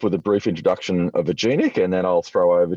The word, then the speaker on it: Aginic: australia act um now a genic a lot of people ask how do you pronounce it and what does it stand for it's it's short for agile analytics so a genic and bretton marty started